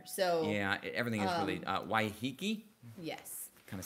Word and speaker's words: Waiheke: I don't know how to pronounce anything here, so... Yeah, everything is really... Waiheke?